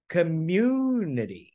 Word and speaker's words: community: Cho nên cái từ này đọc là, nào quý vị, community.